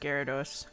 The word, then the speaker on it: Gyarados: short he's hilarious welcome back shrimply yes it's pronounced Gyarados I it when he said aroused and start